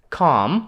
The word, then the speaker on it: calm: Just просто come. До речі, послухайте. Come. В слові come L майже глуха. Come. Вона не вимовляється.